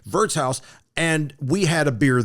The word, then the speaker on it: Wirtshaus: It's spelled the W, pronounced like a V. Wirtshaus.